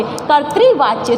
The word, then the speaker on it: कर्तृवाच्य: हो जाता है तो इसका जो उच्चारण होगा सीधे-सीधे कहां होगा क्योंकि ता से पहले हो जाएगा तो क्या हो जाएगा कत्र वाच्य क र क्योंकि आधा र है तो क र र त्रि वाच्य कर्तृवाच्य तो आपको ध्यान रखना